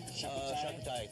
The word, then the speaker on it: charcuterie: How do you pronounce that one? Charcuterie.